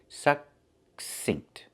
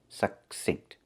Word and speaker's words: succinct: We see two C's. The first C makes the k sound, like in cake, k, k. And the second C makes the s sound, like in star. The K is a stop K. We don't release it. We don't say k. We say suck, make the K position and stop the air.